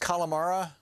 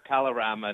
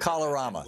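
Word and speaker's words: Kalorama: So the is it pronounced Calamara? Neighborhood? Calorama neighborhood. Calorama, thank you.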